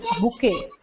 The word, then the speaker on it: bouquet: It is pronounced as bouquet. इसको bouquet बोला जाता है, bucket नहीं.